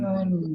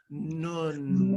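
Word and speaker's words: נון: Before I get into the layers of this, I'm wondering if you could just simply pronounce the name of it and feel it in your lips. The letter is Nun. Nun.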